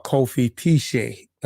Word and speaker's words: Kofi Piesie: I am Kofi Piesie, or Kofi Piesie is the proper pronunciation.